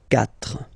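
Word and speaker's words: quatre: C but then the sound that you will pronounce is ka. Okay. Catra.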